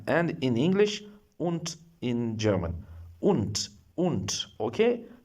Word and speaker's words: und: Un. Okay. U N D pronounce D like T un not it is not and it is un in German language.